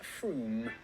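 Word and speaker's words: Frome: from f-r-o-m-e it should be blitheringly obvious it's pronounced froome and if you did say frame don't worry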